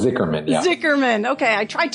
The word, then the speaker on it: Zichermann: Today, I am so excited to introduce you to Gabe Zicherman. Am I pronouncing that correct? Close. It's Zichermann.